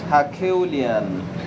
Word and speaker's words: herculean: achaelian or aquilian a quillian or a quillian herculean is the correct pronunciation of the words equilient achillian it's